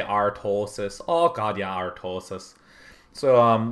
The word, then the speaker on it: Artosis: And of course, Artosis doesn't say his name like that. He says it Artosis.